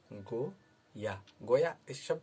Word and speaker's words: गोया: मैंने इसका उच्चारण इसलिए किया कि अक्सर लोग अंत के अक्षर को, शब्द के अंत के अक्षर को गलत सुन लेते हैं, समझ बैठते हैं और वह कुछ और बोलने लगते हैं, इसलिए मैंने इस शब्द